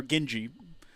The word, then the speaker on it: Genji: Acquired the Gingy Blade, or Genji, correct way to pronounce it, and the Dual Master Glaive Art.